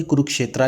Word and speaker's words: कुरुक्षेत्र: ऐसे तो ये पांडवास लिखा हुआ है और ये कुरुक्षेत्रा लिखा हुआ है, लेकिन हम इसे हिंदी वाले ही उच्चारण के साथ पढ़ेंगे, पांडव और कुरुक्षेत्र।